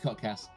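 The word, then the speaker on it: kotks: week at k o t k s it's pronounced codcast but no no one really knows that but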